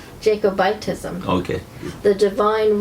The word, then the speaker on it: Jacobitism: Jacobitism, is that how you say it? Jacobism? Yeah. Or is it Jacobitism? Jacobitism.